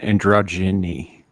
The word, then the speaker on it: androgyny: you thank you and androgeny is that how you say it androgeny freaking androgeny and androgyny like oh Androgen it's a j sound yeah androgyny English is